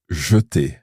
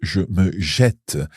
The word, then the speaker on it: jeter: So it's J-E-T-E-R, the infinitive, jeter. However, when we conjugate it, so if I throw myself, it's je me jette. I, with a grave accent,